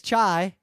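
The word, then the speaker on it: çay: in it and the word for tea is chai oh that's a hard word it's spelled differently it's spelled CA Y but I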